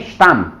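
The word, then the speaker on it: Stamm: और S plus कॉन्सोनांट, ये देखो एस प्लस वोकाल आएगा तो जे बोलेंगे, और एस प्लस कॉन्सोनांट आ जाए, कॉन्सोनांट होगा तो आधा से ही निकल पाता है, इसको बोलेंगे स्टाम, स्टाम।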